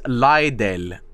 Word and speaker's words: Lidl: My family pronounces Lidl as Lidl.